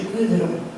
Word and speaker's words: Gudrun: and maybe you can try to pronounce it, it's actually Gudrun.